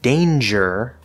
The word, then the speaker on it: danger: we talked about before so in words like danger the g is pronounced but it's a j and the n is